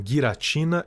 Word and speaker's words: Giratina: A propósito, eu sei que os nomes se pronunciam guiratina e Arqueus, mas eu não tô nem aí.